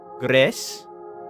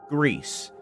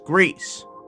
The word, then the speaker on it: Gris: So I imagine it's probably supposed to be something along the lines of Gris, probably. But we're gonna say it Gris, because that's how they said it on Twitter 6 years ago. That's how we're pronouncing it. It's Gris.